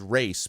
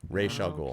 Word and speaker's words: Ra's al Ghul: It's supposed to be Ra's al Ghul, and I thought it was race, but it's not race, it's Ra's. So Ra's al Ghul.